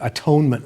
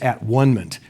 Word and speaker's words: atonement: for campbell is the atonement with the father which campbell always insists that we pronounce at one minute instead of atonement which means that we